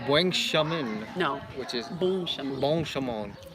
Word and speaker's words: bon chemin: which is Bon chemin.